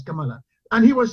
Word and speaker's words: Kamala: What's the right pronunciation for that name? Kamala, yes, Kamala.